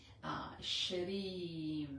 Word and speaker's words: Shreem: I would write it, with two E, Shreem, because it's a long vowel.